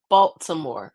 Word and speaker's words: Baltimore: So I say Baltimore. I pronounce it properly.